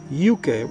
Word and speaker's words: Yunque: rainforest the tyo Indians gave it the name UK we spell it y UK e which means sacred land